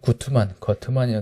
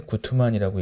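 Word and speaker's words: Guttmann: 이제 거트만이라고 되는데 구트만이라고 읽죠.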